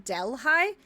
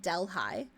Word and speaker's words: Delhi: Um, I have family who live in Delhigh, which is a bastardization pronunciation of Delhi, like New Delhi, but it's called Delhigh.